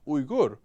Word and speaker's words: Uygur: And that's why actually my name is pronounced Uygur, which don't try. No American's ever said it right.